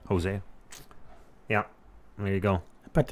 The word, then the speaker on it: Hosea: Hosea.